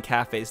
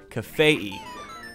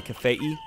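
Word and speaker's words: Kafei: name is actually pronounced cafe II the the I at the end is supposed to be kind of like Hawaii I don't know I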